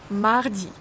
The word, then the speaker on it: Mardi: Mardi. Mardi. When you pronounce a, your tongue is laying on your lower teeth here.